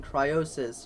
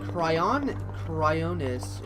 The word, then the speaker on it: Cryonis: Yes, we are on Cryonis, or Cryonis. However you want to pronounce it. I always thought it was pronounced Cryosis, but you know what? No, it's Cryonis.